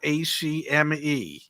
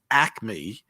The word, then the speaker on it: Acme: It is, if you're a true Philadelphian, even though it's spelled ACME, okay, and it is legitimately pronounced Acme. If you're from Philadelphia, somehow it becomes Acme. There's an extra A in there.